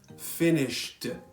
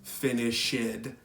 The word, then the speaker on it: finished: is any other sound do not pronounce the e you will only pronounce the last sound for example changed finished that is the correct pronunciation not change it finish it I hear that all